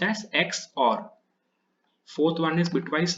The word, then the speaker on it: XOR: It's pronounced as XOR.